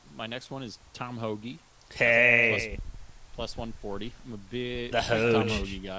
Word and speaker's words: Hoge: it both ways but I did find out a couple weeks ago it is Hoagie Hoagie shout out Hoagie h-o-g-e's pronounced Hoagie does he have a